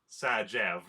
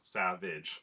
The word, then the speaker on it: Sajev: Sajev, not Savage.